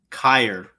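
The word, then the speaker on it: χείρ: think it's correct um is kair okay it's spelled uh c-h-e-i-r if you look at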